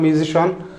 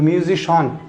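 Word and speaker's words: musician: A band of মিউজিশিয়ান, বাদকের দল। মিউজিশিয়ান না কিন্তু মিউজিশন, রাইট প্রোনাউন্সিয়েশন যদি CIAN থাকে তাহলে রাইট প্রোনাউন্সিয়েশন CIAN এর পরিবর্তে উচ্চারণ হবে শন।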